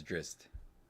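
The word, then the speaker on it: Drizzt: name interesting because like if you listen to interviews with the author it's dritzed yeah he says drist um which is kind of how it's spelled it's exactly how it's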